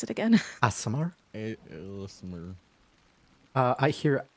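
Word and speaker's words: Aasimar: How do I pronounce it again? Asimar? Listener. I hear Asmar, Asimar, Asmer.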